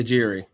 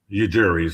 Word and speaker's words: Ujiri: new team president Masai Well, how do you pronounce his last name, Dustin? Masai Ujiri. Ujiri.